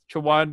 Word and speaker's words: Chowan: First, I want to tell you what Chowan Discovery is, and it's pronounced Swan.